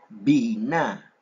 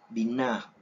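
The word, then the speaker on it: בינה: Entonces sería una B como de barco. Así que sería Bina, Bina, Bina, que se traduce como inteligencia. Bina, Bina, Bina. Algunos tienden a pronunciar la terminación de la G como una J suave.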